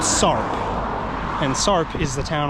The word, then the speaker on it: Sarp: And the next town after that is Sarp. Literally, it's called Sorp.